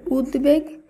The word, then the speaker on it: উদ্বেগ: আমরা শুদ্ধভাবে উচ্চারণ করব শব্দগুলির উচ্চারণে ব ফলার কোন পরিবর্তন হবে না তাই উদ্বেল এই শব্দের শুদ্ধ উচ্চারণ উদ্বেল এভাবেই হবে উদ্বেগ এর শুদ্ধ উচ্চারণ হবে উদ্বেগ উদ্বাস্তু এর শুদ্ধ উচ্চারণ